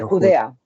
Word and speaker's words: Judea: ¿se dice judía? En italiano se dice Judea. Judía se Ah, dice de Judea, de Judea. Judea.